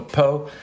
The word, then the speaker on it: pot: drink your wine and what's called a po uh spelled like pot pot but so it's a